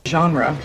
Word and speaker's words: genre: nasal strips Nal strips this word is often Mis pronounced as je but it should be je my favorite RA music is jazz genre genre genre genre yeah